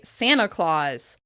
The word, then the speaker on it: Santa Claus: When we're talking about the Christmas elf Santa Claus, it's common to say "Sanna Claus, Sanna Claus."